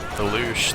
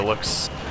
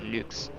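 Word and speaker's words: Luchs: No, it's pronounced looks. It's like, that guy looks really nice today. It's the exact same pronunciation as the English word looks. Gotcha. Now I know. Although if you say it with a proper German accent, it's more like Lux.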